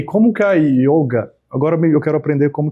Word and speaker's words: yoga: berga é a Índia, lá não tem eh essa pronúncia de o aberto, é sempre com o fechado. O sânscrito ou hind é com o fechado, não o aberto.